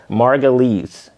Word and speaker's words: Margulies: How do you pronounce it? Margulies.